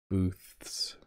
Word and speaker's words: booths: Booths, moths. So the tongue goes out, booths, and then you pull the tongue back as you say it.